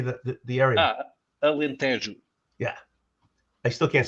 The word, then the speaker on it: Alentejo: Alentejo.